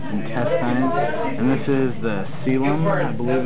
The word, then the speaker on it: coelom: And this is the coelom. I believe it's how it's pronounced. Yeah, coelom.